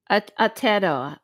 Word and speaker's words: Aotearoa: How do you pronounce Aotearoa. Aotearoa.